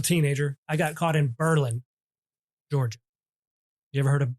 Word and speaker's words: Berlin: I got caught in Berlin, Georgia. You ever heard of Berlin? No. It is spelled Berlin. Berlin, but pronounced Berlin.